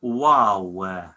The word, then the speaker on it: ܘ: in the second group wow wow isn't a w in english numeric value is six